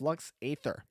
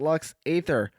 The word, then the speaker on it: Lux Æterna: Just for future note, the song is Lux Æterna, not Lux Æther.